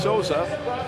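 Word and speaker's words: Sousa: Lucas spells his name S-O-U-S-A. It's pronounced Souza. He gets his 9th assist and 20th point of the year, which ties him with John Souza, S-O-S-A, for the team leadership.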